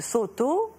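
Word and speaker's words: Sōtō: branches du bouddhisme Chan, la branche Caodong, qui se prononce en japonais Soto.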